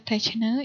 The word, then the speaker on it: techne: ya, dari bahasa Yunani, yaitu techne, ya, techne, dibacanya techne, yang artinya seni atau art atau keterampilan, dan logos, yang artinya kata-kata yang terorganisasi.